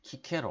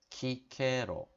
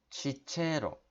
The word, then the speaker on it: Cicero: 쪽에 우리나라 책 에너미 cicero 가 키케로 5 키케로 그러니까 이 씨는 k 로 발음이 됩니다 기체로 로마 발음은 시체로 그렇게 뭐뭐 아름은 이제 어떤 구개음화